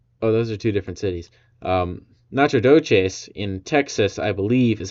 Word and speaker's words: Nacogdoches: Nacogdoches in Texas, I believe, is how it's pronounced, and Natchitoches there in Louisiana.